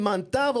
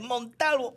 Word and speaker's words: Montalvo: It's like Montalvo. It's Montalvo. You say it like very, very jíbaro. It's a jíbaro thing.